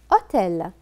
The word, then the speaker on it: hôtel: Nasser réserve une chambre hôtel. Faites attention. Hôtel. C'est un mot singulier, mais qui commence par le H muet. Donc, c'est comme le voyelle.